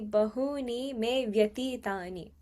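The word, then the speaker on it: bahūni me vyatītāni: Think about like me and vyatitani together as one word. So how you'd pronounce that would be bahuni me vyatitani. It would be a little fast, okay?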